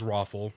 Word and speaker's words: ROFL: I'm pronouncing it the way that I was told it's to be pronounced, which is Roffle, actually spelled out, but yes, ROFL.